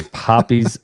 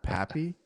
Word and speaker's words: Poppy's: But it's spelled it's spelled with a Y, so we always called it Pappy. I didn't know. And they're like, nope. And then I heard her like say it like the owner, and she's like Poppy Donuts.